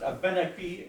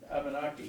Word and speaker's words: Abenaki: Most in the folks who spent time in Quebec say Abenaki. They put the emphasis with they even write it with an accent on the E, so that puts that Abenaki. But then the folks that grew up in the English-speaking part of New England say Abenaki.